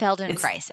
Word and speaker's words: Feldenkrais: Feldenkrais. It's Feldenkrais.